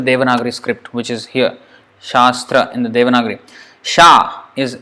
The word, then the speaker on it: Shastra: or Shastra for example this word Shastra there are how many syllables here - so sha and straw in each of these